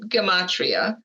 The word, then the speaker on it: gematria: It's pronounced gematria.